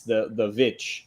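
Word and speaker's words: The VVitch: So they spell it with 2 V's, the Vitch.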